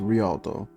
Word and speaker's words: Rialto: beautiful and lastly i want to say the pronunciation for this is rialto um i was trying to contact them for